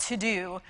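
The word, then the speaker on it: Teux Deux: And she has an app that's called To Do, but it's spelled T-E-U-X, D-E-U-X.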